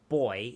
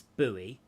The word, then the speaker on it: buoy: doesn't yeah pronunciation um in australia it's boy in america it's bowie yeah bowie because they